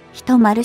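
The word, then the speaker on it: ヒトマル: ご存知かと思いますが、銃は銃ではなく一丸と読みます。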